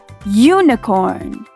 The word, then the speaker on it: unicorn: Like unicorn. It starts with the vowel U, but we pronounce it like a Y.